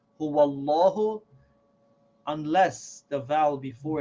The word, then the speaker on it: Allah: as heavy mean who say law like who Allah who unless the vowel before it is a